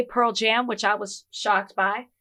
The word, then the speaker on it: Pearl Jam: That's what I said, Pearl Jam. You're saying it wrong. I'm sorry, what's the problem? Take a pause between the Pearl and the Jam. Why? Because that's the name of the band.